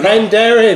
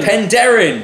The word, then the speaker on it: Penderyn: Penderyn. No, Penderyn. Penderyn.